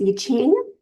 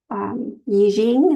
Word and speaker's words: Yijing: So the Book of Changes, it is sometimes in older literature presented as I Ching. Yijing is actually the proper pronunciation, Yijing.